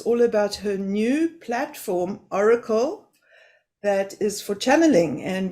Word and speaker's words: Orykl: to tell us all about her new platform Oracle that is for channeling and where you can